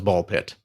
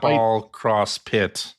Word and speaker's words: Ball x Pit: from that presentation was Ball Pit. Yes. which is pronounced ball pit and not ball cross pit or ball x pit or ball times pit.